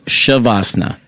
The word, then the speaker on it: Shavasana: So not only did I said it wrong, it's Shavasana. Both ways is fine.